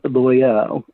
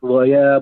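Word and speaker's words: Loial: i am very interested on the take on loyal uh i hope i'm pronouncing that right yeah loyal yep yeah so when he shows up they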